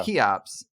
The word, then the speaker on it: Cheops: Cheops. Yeah, the CH is Greek. It's a K sound. And that name actually does go back to Egypt, right? The Great Pyramid, yeah. Right. So the mission of Cheops is to find super Earths.